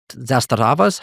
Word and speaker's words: Zastava: And a third of all illegal handguns on Swedish streets are Serbian zasta zastavas.